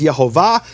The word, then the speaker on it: Yehovah: But he received this as a tradition, that the true pronunciation of the name is Yehovah.